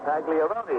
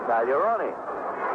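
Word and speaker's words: Pagliaroni: When he came to Pittsburgh, he was asked how he wanted his name pronounced, and he said Pagliarone. And they said, well, at Boston, it was pronounced Pagliarone. He said, nobody ever asked me there.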